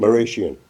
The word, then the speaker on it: Marashian: uh how do you say your last name maian maian who was a member of the church